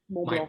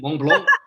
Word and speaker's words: Mont Blanc: Mont My Blanc. pronunciation, Mont Blanc.